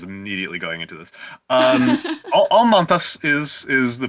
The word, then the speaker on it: Almantas: had audio problems immediately going into this um all Manas is is the pronunciation it's it's Lithuanian um but